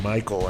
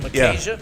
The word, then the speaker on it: Micajah: And we have, I always want to pronounce your name Michael, I think, because that's the way Ray pronounces it, Michael. Michael Jackson? It's Micajah. Micajah. Comes from Micah Jackson. out of the Bible.